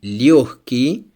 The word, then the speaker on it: легкий: In the words легкий, мягкий, G is pronounced like H. As you see, легкий, мягкий.